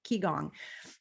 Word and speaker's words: qigong: have spontaneously healed using ki gong there have um are chi you know qigong however you want to